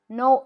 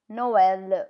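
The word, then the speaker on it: Noël: No L. Noel L. Can you see how E is pronounced separate to O? Noel, which is Christmas.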